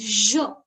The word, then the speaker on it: je: I is pronounced as je.